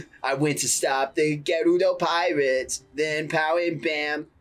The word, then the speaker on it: Gerudo: Okay, apparently it's supposed to be said Gerudo. Not Gerudo. That's how they say it in... Like Naruto. Tears of the Kingdom, they say Gerudo.